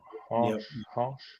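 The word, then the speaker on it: Harsch: How do you pronounce his surname? Hamsch? Yes. Eddie Hamsch? Harsh. Yep. I'm going harsh.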